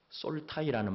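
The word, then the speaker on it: soul tie: 솔 타이라는 말을 들어 보셨나요 소울 타인데이 좀 더 짧게 빠르게 하기 위해서 솔타이 이렇게 발음을 합니다 소울은 우리말로 영혼이라 하면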